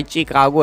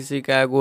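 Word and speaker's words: Chicago: Comment करते हैं कि भाई चिकागो है, भाई चिकागो को शिकागो बोलता है। अबे भाई शिकागो है भाई, प्रोनाउंसिएशन चेक करो गूगल पे।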